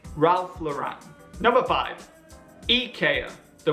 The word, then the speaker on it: Ralph Lauren: a fashion house and she pronounced it with the syllable e on the end Ralph Lauren Lauren don't be like Rachel say Ralph Lauren number five ek are